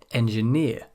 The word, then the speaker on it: engineer: Some suffixes are always stressed as the final syllable in a word. These ones here, for example, with the suffix EER. Engineer, mountaineer, auctioneer, profiteer, pioneer, puppeteer.